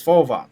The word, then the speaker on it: Volvox: It's Volvox.